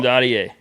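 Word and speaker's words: Dadiet: Now, Daddier.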